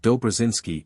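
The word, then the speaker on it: Dobrzyński: or French J thus the proper name of dobrinski is pronounced as if written Dober jinsky SC ccz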